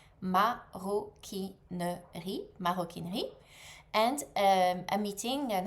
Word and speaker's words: maroquinerie: So, leather leather goods and leather craft is called maroquinerie. Maroquinerie.